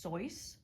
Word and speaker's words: Seuss: Seuss is actually pronounced Soy, but for the rest of the video, I'm going to be sticking to the popular pronunciation.